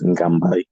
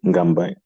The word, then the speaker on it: Ngambai: Djimra Djimra actually means in my native language, which is Ngambai. Ngambai is spelled N apostrophe Gambay. Sometimes you put an E at the end. Again, N apostrophe Gambay sometimes, but either way, Ngambai.